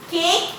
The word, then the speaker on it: cake: Cake, here E is silent, so we will underline.